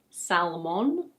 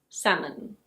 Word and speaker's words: salmon: Yes, the L is silent and the O is a schwa sound. So it's not "sal-mohn". It's: salmon.